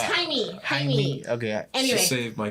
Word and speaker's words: Jaime: How do you say James in Spanish? Jaime? Hermes? No, it's Jaime.